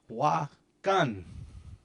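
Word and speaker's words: wakáŋ: Just a little bit of that N has to go in here. Wakan.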